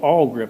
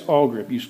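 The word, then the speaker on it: Awlgrip: Oh, probably the best thing on earth to paint something like this with is a product called AllGrip.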